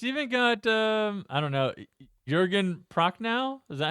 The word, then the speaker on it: Jürgen Prochnow: It's even got I don't know, Jürgen Prochnow?